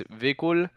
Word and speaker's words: Vikul: So it's technically pronounced the Spanish way, and the Spanish way it's Vikul. So yeah, it's probably the second one you said. It's like imagine it's a double E instead of an I, Okay. and yeah, that's pretty much how it's pronounced.